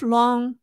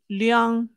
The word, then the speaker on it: Leung: And if Leung, or Leung, and depending on if you pronounce his last name in a Hong Kong pronunciation or the mainland Chinese pronunciation, if Leung befriended the wrong faction, it may cause his downfall.